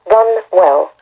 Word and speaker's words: Runwell: w e double L run well one word all right runwell Church